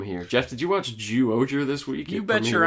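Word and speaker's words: Zyuohger: Ju-Ranger? Ju-Oger. It's one syllable is different, motherfucker.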